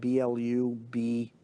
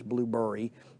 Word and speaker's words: Blubrry: Blueberry, which is spelled Blubrry. There's no E in it. It's not Blueberry. It's Blueberry.